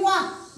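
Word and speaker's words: walk: दिलं तर मग हे वॉक वॉक शब्द दिलतो टॉक वॉक मग याचा मग याच्यामध्ये सुद्धा एल चा उच्चार आलेला नाही वाचताना काय वाचलं पण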